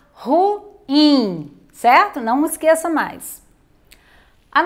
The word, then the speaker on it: ruim: não no ru então muitas pessoas elas falam ruim e não é a pronúncia correta a pronúncia correta é ruim ao dividir mas essa palavra em sílabas nós